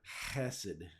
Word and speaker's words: hesed: English speakers have a hard time saying these words from the back of their throat. It's a word hesed.